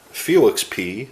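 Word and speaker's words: Félix Pie: share with you the 2006 Iowa Cubs featuring Felix P on the checklist right here and it is spelled and I'll just show you the other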